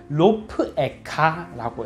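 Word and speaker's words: רֹפְאֶךָ: 이 부분의 발음이 로프에카라고 읽습니다.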